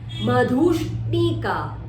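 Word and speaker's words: मधुष्णिका: Madhushnika, dhu stress and yes is a shut the door sound, and n is in a capital, your tongue tip has stretch upper palate. Madhushnika, madhushnika, manohara.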